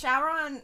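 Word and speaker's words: Syaoran: like card cap Sakura they have um Sheron like it's Sheron is how you say it like every single translation everything has been shaon like s y o r a an or something like that but on the crunchy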